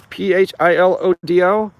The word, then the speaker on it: Philodo: That's how I pronounce it. It's Philodo.